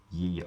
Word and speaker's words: ye: of radiation so indeed if you see something that says ye olde it should be pronounced the old this is true but